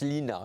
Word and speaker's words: Line: sœur laine voilà alors c'est un prénom d'origine norvégien on prononce Lina c'est c'est étrange alors que ça s'écrit line en effet et j'ai un